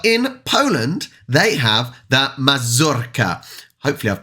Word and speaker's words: mazurka: journalist person couldn't pronounce mazurka properly or at least try to roll the r anyway um straight away